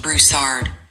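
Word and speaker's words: Broussard: In Louisiana, Brousard is usually pronounced Brousard with the stress on the second syllable. It's a French derived name and the final D is typically spoken.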